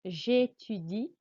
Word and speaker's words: j'étudie: what you'll find on j'étudie and géographie and théâtre, the E accent means your voice must go up on the E. J'étudie, géographie, théâtre.